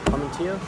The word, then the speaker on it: Armatino: Armatino?